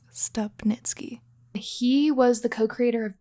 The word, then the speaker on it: Stupnitsky: This is Editing Jenny popping in to say that we said Gene Stupnitsky's name wrong the entire episode. I'm sure he gets that a lot, but for the record, it's Stupnitsky.